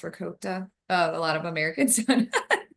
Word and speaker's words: ricotta: So you get some pecorino romano, some Parmesan shredded, some ricotta cheese, but it's really pronounced ricotta.